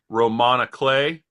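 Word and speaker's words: roman à clef: In a previous class, there was a word I had never heard before, Romana Clay, spelled like Roman A. Clef.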